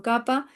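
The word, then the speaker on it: Kapha: Y por último estamos hablando de capa o capa, que en realidad este yo lo utilizo con con el término como viene de sánscrito, capa, que se escribe con pH, ¿no?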